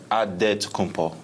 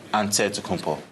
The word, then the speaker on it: Antetokounmpo: The Nigerian way, you gotta say it with a D, so it's Antetokounmpo. But in the Greek way, you say it with an NT, like Antetokounmpo.